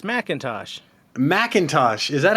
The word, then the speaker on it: McIntosh: No, it's McIntosh.